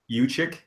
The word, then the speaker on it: Juszczyk: Carlos Hyde is probably their best player, so they can get, some blocking for him, and Jukic Is that how you pronounce it? Uchik.